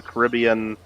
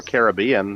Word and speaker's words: Caribbean: It is hot and humid, but you got the Caribbean Sea there, or Caribbean, depending on your pronunciation, and it's beautiful there, right?